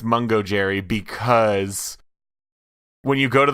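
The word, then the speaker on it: Mungojerrie: pronounced I have confirmed the cat's name is pronounced MUNGO JERRY because when you go to the MUNGO JERRY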